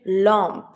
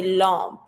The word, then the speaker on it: lampe: A lamp, une lampe. Careful with the pronunciation. It's almost the same spelling, but when it comes to the pronunciation, we don't say lamp, we say lampe.